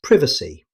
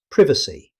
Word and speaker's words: privacy: In British English, it's pronounced as privacy. Pay attention to the short E sound at the start, privacy.